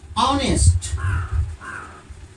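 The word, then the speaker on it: honest: पता चलता है कि यह एच जो है साइलेंट है इसका उच्चारण नहीं होता है यानी कि हमारा जो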